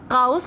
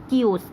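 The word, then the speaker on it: chaos: देखिए इसकी स्पेलिंग जो है ना वो काओस लगती है, बट इसको हम प्रोनाउंस करते हैं कियोस, ठीक है।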